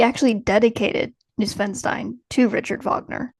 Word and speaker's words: Wagner: that much about Richard I would say Wagner based on how it's spelled but in the German it's like vogner it's Vagner yeah I didn't really know